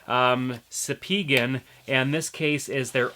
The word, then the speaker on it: Spigen: case we're looking at is from sepeegan that is how you pronounce it i asked them um sapegan and this case is